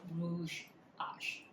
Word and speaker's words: Rouge H: It is vintage, and this color is called Rouge Ash. I think that's how, seems like a lot of people who know better, that's how they pronounce it, but it's written as Rouge H, the letter H.